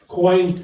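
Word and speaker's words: quoins: something in my book that I like the coins it is about structure that is either could be loadbearing or just something decorative coins is pronounced Q is it's spelled q uo i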